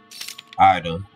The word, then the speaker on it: Ada: Diecast UU, the game, they spell her name the same way, but they call her Ida. Ida on there. So I think she goes Ada on here. So it's just different pronunciations.